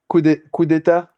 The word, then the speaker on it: coup d'état: Coup d'état.